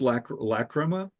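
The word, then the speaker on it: Lachryma: And then when Lacrima, I think it's pronounced Lacrima. It's a Latin word, and I don't speak Latin, so the word means tears in Latin.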